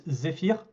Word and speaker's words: Zefyr: It's right now it's ZEFYR. At least in French it's ZEFYR, but pretty much the same.